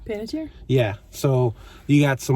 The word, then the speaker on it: Panettiere: Panettiere?